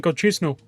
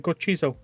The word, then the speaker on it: Gochizo: One of these days, I'm going to pronounce it correctly, and people are going to be like, he's not saying Gochisno, he's saying Gochizo.